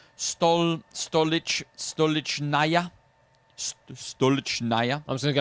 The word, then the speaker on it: Stolichnaya: It pronounced Stolichnaya.